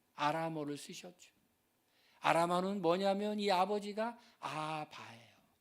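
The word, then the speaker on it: אבא: 쓰셨죠 아라는 뭐냐면이 아버지가 아바요 아바 우리나라 아빠라는 발음하고 비슷하죠 아빠라는 거예요 아빠이 아바가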